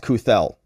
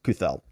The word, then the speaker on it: Cathell: for the post-millennial and her last name is pronounced kuthel my apologies kuthel so this is what